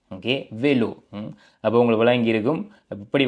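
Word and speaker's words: vélo: அன்னே என்று வாசிக்கிறோம் ஓகே நேரா மிதி வண்டி சைக்கிள் அதை வந்து நாங்கள் வெலோ என்று வாசிக்கிறோம் ஓகே வெலோ அப்ப உங்களுக்கு விளங்கி இருக்கும்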